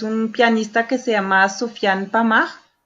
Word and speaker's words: Sofiane Pamart: No, pero esa tal cual la pronunciación. Sofiane Pamart. Sí, Pamart.